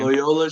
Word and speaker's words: Loyola: the strategy is he told me say loy so i have to think of the word boy and replace the b with an l say would be so